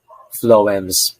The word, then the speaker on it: phloem: you to recall water phloems pH on the other hand is pronounced like the letter f which is how you